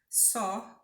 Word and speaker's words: saw: Só é a forma de passado do verbo see. See se escreve S-E-E. No passado a gente fala só.